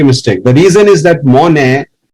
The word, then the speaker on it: Monet: The reason is that Monet, the T is silent, is a character which is not so famous.